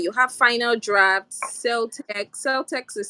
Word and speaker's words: Celtx: Celtex is spelled CELTX.